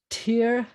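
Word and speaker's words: תרצח: This one is tirtzach, tirtzach. You'll notice that there's no this vowel is not underneath here, where we would reverse the pronunciation, but it feels like it because it's going to be anyway.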